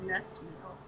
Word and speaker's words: Nestmile: Orica Nestmile! I'm pretty sure that's supposed to be pronounced Nestmile. Nestmile!